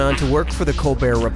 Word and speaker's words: Colbert: Okay, so Steven Colbear of the Co Bear Report changed the pronunciation of his name from Colbert to Co Bear and that's how he became rich and famous.